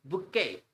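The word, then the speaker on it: bouquet: और ले लेते हैं इट्स बुके बुके T silent होता है बुके बहुत मजेदार वर्ड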